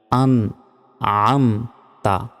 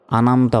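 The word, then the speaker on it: أنعمت: বলি সিরাতাল লাজিনা জিনা নয় এখানে নরমভাবে অক্ষর উচ্চারণ করতে হয় জিবা বের করে সিরাতল্লাজিনা আন আমতা আনা আমতা এখানে অনেকে মানে প্যাচ লাগায়া যায় একদম বলতে পারে না আনামতা বলে আনামতা নয় আন আমতা আন আম তা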